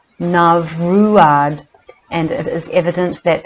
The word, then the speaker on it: Neamruaid: The word is pronounced Neamruaid, and it is evident that it was given its present form of Nimrod for a disguise.